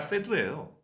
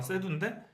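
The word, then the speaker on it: Seydoux: 근데 스칼렛 요한슨은 수정이 안 되고, 그리고 레아 세이두도 원래는 레아 세두예요. 발음상은 세두인데 레아 세이두에서 안 바뀌거든요.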